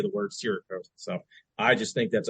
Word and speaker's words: Cerakote: But I've always pronounced it Cerakote, like Sarah's coat, Cerakote, and Tanner pronounces it Cerakote, like the store that probably doesn't exist anymore, Sears, Cerakote.